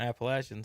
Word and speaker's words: Appalachian: you count to account appalachian so oh yeah yeah and we know how to pronounce appalachian it's not appalachian legion yeah yes i hate it